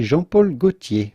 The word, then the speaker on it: Jean-Paul Gaultier: to say jean-paul gaultier but if you can say jean-paul gaultier which is the typical french pronunciation jean-paul gaultier it'd be okay to